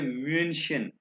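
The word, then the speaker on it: München: और German Deutsche में म्यूनिक को कहते हैं म्यूनशन।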